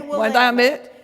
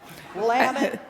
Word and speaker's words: Willamette: we say is, when I say Willamette, you say damn it. Willamette, damn it. Willamette, damn it. And that may sound a bit weird, but I challenge you to find any other word that rhymes with Willamette.